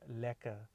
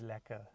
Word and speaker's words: lekker: and everything so remember that term local is lacquer remember how I'm pronouncing it as well it's spelt le ke ke our local is lacquer so well so that term that the term